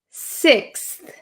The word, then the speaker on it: sixth: all learning okay six do you see how my tongue just a little bit it appears for just a second so I don't say six I don't I don't OV exaggerate the th so be careful of